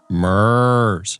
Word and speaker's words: MURS: multi-use Radio Service and it is correctly pronounced Ms Ms radios have only